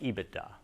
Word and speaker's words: EBITDA: hands get to know this term it's usually pronounced ebitda it's likely that everyone involved in your deal